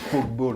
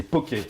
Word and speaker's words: poké: Alors Pokéball, attention, on prononce pas Pokeball, on n'est pas sur Facebook. Au tout début, non, c'est Poké. Ça vient d'Hawaï et Poké, ça veut dire cube, des morceaux.